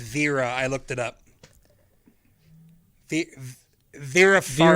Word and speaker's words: Vera: By the way, I believe her name is pronounced Vera.